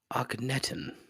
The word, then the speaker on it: Akhenaten: Let me see if I can pronounce this correctly. Akhenaten.